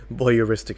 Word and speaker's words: voyeuristic: As a bartender, I bet you have a strong voyeuristic streak. Am I saying that right? Voyeuristic? Because it's not voyager, that's different. Voyeuristic. That's a strange... Voyeuristic. Oh, I did say it right, look.